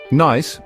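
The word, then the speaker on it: gneiss: Nice, pronounced nice, is a common foliated metamorphic rock that often has alternating bands of light and dark minerals.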